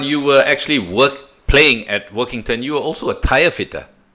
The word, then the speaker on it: Workington: Well, you joined Walkington, am I saying, or Workington? Well, how do you pronounce them? Walkington? Oh, yeah, you're second time. Yeah, you're right, Workington. Yeah, Workington.